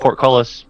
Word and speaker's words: portcullis: But we're both saying porte. No, it's just portcullis. Portcullis, as in like a seaport.